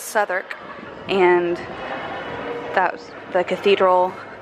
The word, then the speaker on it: Southwark: It looks like it's pronounced Southwark, but it's Southwark.